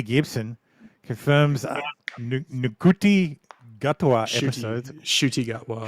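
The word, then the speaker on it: Ncuti Gatwa: Shooty Gatwa. Shooty. So the N is silent.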